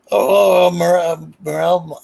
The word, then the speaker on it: morel: Morel. I think it's pronounced morel. It's the type of mushroom.